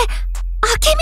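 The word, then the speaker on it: 暁美: ああけみん何あけみあけみホムこれあけみって読むんだ隊員祝いのメッセー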